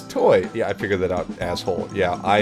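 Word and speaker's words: TOI: it as a breeze it's spelled t o i but is read as toy yeah I figured that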